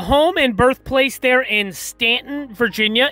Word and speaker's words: Staunton: and birthplace there in stanton virginia it is spelled s-t-a-u-n-t-o-n but it's not pronounced staunton it's pronounced stanton virginia i actually visited